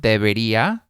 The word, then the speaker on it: debería: Like if you want to teach the word debería, you can teach the word debería. That's not a hard word to say. Debería. It's four syllables.